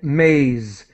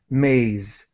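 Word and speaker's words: maize: great thank you and Maze the E is silent Maze and again this is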